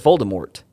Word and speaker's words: Voldemort: I mean, everyone in the movie says Voldemort with a T.